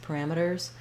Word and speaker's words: parameters: we just do a really, really light S, parameters.